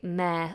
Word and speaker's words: mayor: pronounce meh meh meh I know it's spelt very bizarrely for the pronunciation but we say mayor the mayor of the